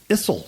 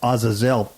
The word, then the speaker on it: Azazel: zel or Aza and it even almost sounds like um Isel sometimes like when Obama was say Isel but Azazel which is which is